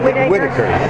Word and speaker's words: Whitaker: Whitaker.